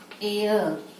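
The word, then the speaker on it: heir: Suppose you want to say air. This is also H is silent. The pronunciation is air.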